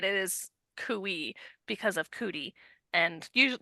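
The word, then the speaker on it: khui: But then I listened to the first 2 Ice Planet books, the audio versions, and they pronounce it quee. Let me explain why it is pronounced cooey and why the audiobook narrators are wrong.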